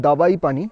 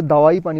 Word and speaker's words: দাবাইপানি: হচ্ছে 1200 টাকা তো এই জায়গাটার নাম কিন্তু একচুয়ালি দাবাই পানি মানে ডি এ বি এ আই কিন্তু বেশিরভাগ মানুষ এটাকে প্রোনাউন্স করে দাওয়াই পানি বলে মানে ডব্লিউ দেয় ডি এ ডব্লিউ এ আই তো তোমাদের দেখাচ্ছি চলো